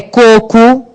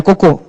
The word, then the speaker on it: coco: É coco, não é cocô.